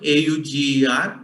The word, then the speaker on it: Auger: The spelling is German AUGER, but the pronunciation is Auger.